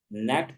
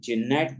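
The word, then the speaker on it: gnat: करना पड़ इसी तरह जी एन एटी नेट पढ़ा जाएगा बल्कि जिनेट नहीं पढ़ा जाएगा जी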